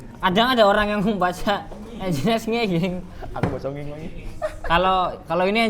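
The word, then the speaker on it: nginx: ya tapi yang penting kalau ngomong engine X ya engine X ya jangan nging gu ya Yang ini loh kadang ada orang yang baca engine X ng aku kalau kalau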